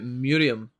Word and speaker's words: Miriam: I was surprised he said Miriam like it's pronounced in Arabic, which is closer to Murium.